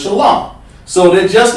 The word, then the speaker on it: shalom: way they do it, but the fake camps go around saying shalom. That ain't right. The word is shalom.